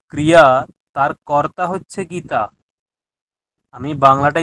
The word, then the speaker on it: কুর্যাৎ: কুরজাত নয়, কুরিয়াত। সংস্কৃত তো, কুরিয়াত।